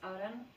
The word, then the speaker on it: Aren: So I decided, to use over the years like a pseudonym, and it was made out of my initials, which is RN, so phonetically it's Aren.